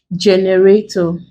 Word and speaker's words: generator: Another example, we have generator. We break. The first syllable. Nothing to count here. You just go ahead and stress the first.